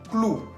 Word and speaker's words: clou: Otro ejemplo que sigue, clou. Clou. Se escribe con la O-U al final, que tiene sonido U.